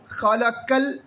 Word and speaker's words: خلق: ഖലഖ്, ഖലഖ്, ഖലഖ എന്നാണ്.